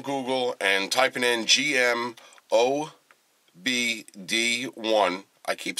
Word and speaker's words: OBD: Okay, so just grabbing my phone, going on Google, and typing in GM OBD1. I keep saying it wrong. I keep saying ODB. OBD.